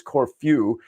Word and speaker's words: Corfu: there uh yes corw I'm sorry if I rolled out Corfu it's Corfu and that's how it's supposed to be pronounced uh depends on which